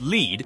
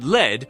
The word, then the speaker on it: lead: Take the word le, its lead when it means to guide, but led when we're talking about the metal.